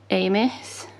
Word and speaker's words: Amis: do really like um times arrow by martin amis that's how you say his name and about